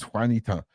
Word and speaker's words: Juanita: I saying this right Wanita is that how you pronounce on the screen how long it took me to figure out that's how to say Juanita before I realized it was Juanita do you know how